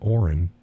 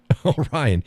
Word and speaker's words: Orion: Oren. I don't get it. Is that somebody I should know? I saw Oren on YouTube last night. Orion. Okay, good. I said it right. Orion.